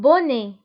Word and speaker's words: bonnet: un bonnet. فبالنسبة للبوني تكتب ب2 n يعني 2 من n. un bonnet. وأيضا تكتب بالتي في الآخر ولكن لا ننطقها.